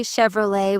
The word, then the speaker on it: Chevrolet: I noticed people say Chevrolet with an English ending. The French origin makes it Chevrolet, not Chevrolet.